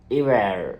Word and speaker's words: hiver: And the next one, third one, hiver, hiver, hiver. Not pronouncing the first letter H, you have to use the second one.